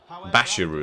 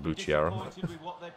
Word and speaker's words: Bashiru: I don't know how you say his name, though. Bashiru, that's it. Not Bucciera.